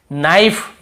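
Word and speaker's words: knife: need यहां पर भी के को नहीं पढ़ेंगे नाइफ यहां पर भी के को नहीं पढ़ेंगे नो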